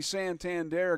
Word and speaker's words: Santander: there thank you I'm looking right at my pronunciation list here Anthony Santander got aboard with a single and and then